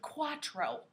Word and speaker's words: cuatro: could say quarto not to be confused with cuatro okay cuatro is spelled c-u-a-t-r-o quarteaux the r and the t